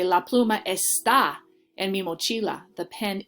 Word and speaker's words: está: But here, la pluma está. Now my strength or my emphasis is going on the second syllable.